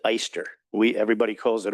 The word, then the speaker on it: Oyster: It was a German name. They pronounced it Easter. We Everybody calls it Oyster, which is okay.